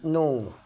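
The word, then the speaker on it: know: برضو حرف الكي لو جه وراه حرف الان الكي ما بتنطقش، زي كلمة نو. نو يعني يعرف.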